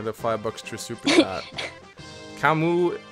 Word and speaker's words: Camus: fire box to subpoena camu camu is presumably pronounced Camus because that's how the Philosopher's name is spelled by the way I